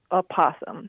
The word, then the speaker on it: opossum: Well, it sounds like it's correct to say either a space possum, right, or an space opossum. Right, that is correct. Okay. Some people will say opossum.